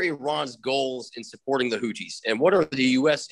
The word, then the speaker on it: Houthi: let's talk about iran's tenuous relationship with the houthi did i pronounce that correctly huti yes movement in yemen and you describe it